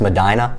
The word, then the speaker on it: Medina: some people up there it is pronounced Madina so they probably aren't watching